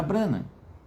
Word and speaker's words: Branham: A família Branam.